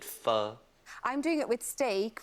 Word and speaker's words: pho: it's a Vietnamese pho it only takes pronouncing it wrong not faux it fur I'm doing it with